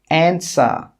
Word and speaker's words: answer: The letter W is also silent in these words, which we talked about a little bit in the last part of this series. Who, whole, answer, sword, to. In all of these words, we're not pronouncing the W, it's silent.